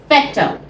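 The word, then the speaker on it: Vetter: यूज़ is they are फेटर they are अ पेट now remember German में यहां बी आता है तो उसको हम फ प्रोनाउंस करते हैं।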